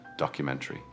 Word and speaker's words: documentary: In British English, we stress the third syllable.